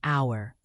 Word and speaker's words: hour: The silent H in hour, the linked T and A in what about.